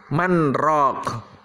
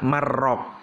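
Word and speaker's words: مَنْ رَاقٍ: Manraq, ya. Manraq. Ini nggak boleh kita baca marraq karena di situ ada saktah, ya. Bacanya harus man, berhenti tanpa nafas, raq, ya, nggak boleh marraq, ya.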